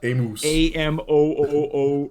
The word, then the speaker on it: Amos: It's pronounced Amos.